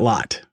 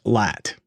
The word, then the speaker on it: Latt: you're not slack ah lat not lot okay yes the a is really a bit more open that's correct okay so